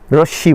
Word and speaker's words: রশ্মি: কিন্তু একটি প্রান্তবিন্দু আছে তাকে রশ্মি বলে আচ্ছা অনেকে রশ্নি বলে তো উচ্চারণের পার্থক্য হতে পারে এবারে আসুন রেখাংশ একই